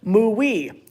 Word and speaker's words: Muai: My suggestion is Muai. It's a boy's name, and I think it's pronounced as Muwi. The Mu in Muwi is the Mu in Muggin that means infinity.